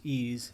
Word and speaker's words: EES: EES which is pronounced ease is an acronym for Engineering